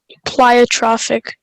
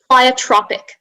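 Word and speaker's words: pleiotropic: of a gene plyotropic plyotrophic no listen to me plyotropic yeah uh can i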